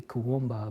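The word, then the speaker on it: Kuumbwa: well you know we it's kind of a weird word and people it's really three syllables you know people say but the w is really silent and it's for three syllables so it should be kuwamba coomba has changed somewhat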